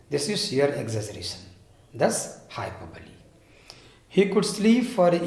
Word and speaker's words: hyperbole: Mark my pronunciation, hyperbole.